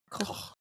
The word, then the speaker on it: Koch: Koch.